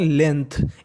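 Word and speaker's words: length: equal का मतलब बराबर एल ई एन जी टी एच इसे पढ़ते हैं लेंथ इसमें हमारा जी साइलेंट रहता है जी का उच्चारण नहीं करते तो मीनिंग बन गई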